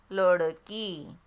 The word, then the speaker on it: लड़की: तो देखो जब हम पढ़ते हैं तो उच्चारण में अंतर है। पहला जब शब्द हम पढ़ेंगे तो उसमें ड कैसे पढ़ेंगे? डफली। और दूसरा जो शब्द है लड़की, तो ड को हमने कैसे पढ़ा? अड़, अड़, लड़की।